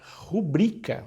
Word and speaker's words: rubrica: é a palavra rubric já ouvi muita gente dizendo rubrika não é rubrika é a rubrika e não tem assento e o acento ali é o culto está lá no i não está no um porque é uma palavra